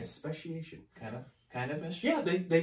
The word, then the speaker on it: Speciation: Speciation Artisan Ales, Speciation Cellars.